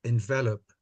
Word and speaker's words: envelop: Toastmaster Irene, can I just, when you pronounce it like this, it's pronounced envelope.